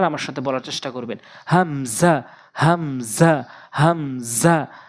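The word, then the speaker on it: همزة: হচ্ছে হামজা হামজা হামজা অর্থাৎ হলকের শুরু থেকে হামজা হামজা প্র্যাকটিস করবেন বারবার আমার সাথে বলার চেষ্টা করবেন হামজা হামজা হামজা হা হা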